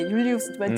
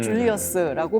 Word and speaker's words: 율리우스: 율리스 원래 이제 율리우스지만 줄리어스라고 발음을 한다면 이제 줄라이라고 해서 그게 나와 있고 그리고 카이사르가 약간 황제 칭호처럼 주어지기 시작을 해요.